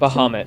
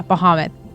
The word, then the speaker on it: Bahamut: he worships is bahamut sorry if i don't pronounce that correct muhammad yeah bahamut there we go and so he admires dragonborns